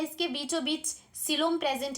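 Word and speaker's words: coelom: This is cavity which is known as सिलोम।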